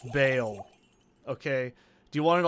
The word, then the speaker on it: Baal: just wants to be difficult and call him ball because you think ball's Do you really want to call him Ball? Do we really want to rest on this laurel? It's Bale.